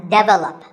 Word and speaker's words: develop: photograph but photography so the first syllable becomes and the stress goes to the second syllable photography so photography in